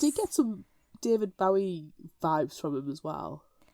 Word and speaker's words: Bowie: that way B because that's not Bowie it's Bowie he said accent man